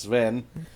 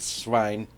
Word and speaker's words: Svein: Now, okay, my question is, her boyfriend, Svein, sometimes pronounced Sven, but she pronounced it Svein.